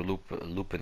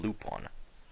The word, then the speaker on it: Lupin: I was saying that I pronounced Lupin wrong. Like, it's spelled Lupin. L-U-P-I-N. But everyone in the movie that I watched, even in the English dub, the Japanese, they called him Lupon. And I was like, okay, maybe it's actually supposed to be pronounced Lupin, either in the French.